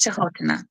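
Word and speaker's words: Canotila: spelled Canotina, but it's pronounced Chahotana.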